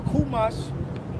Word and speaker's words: Chumash: Or Kumash is spelled Chumash, right?